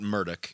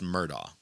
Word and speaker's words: Murdaugh: He's out and out saying, no, it's not Murdaugh, it's Murdaugh.